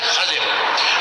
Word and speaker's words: خضر: کا نام تھا خضر, جس کو ہم خضر کہتے ہیں, اس کا صحیح تلفظ ہے خضر.